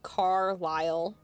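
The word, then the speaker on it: Carlisle: If you if you look at the way that it's spelled, it's supposed it's probably supposed to be car ly, but I'm saying Carl with two L's. So, I'm I'm adding an L in there as I'm speaking.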